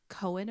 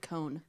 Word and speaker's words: Koen: Right when he has a knife to her throat, Cohen appears. Is it pronounced Cohen?